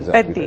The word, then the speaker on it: Peddi: So, what is it about Peddi that uh I I hope I'm pronouncing it right. Peddi, yeah.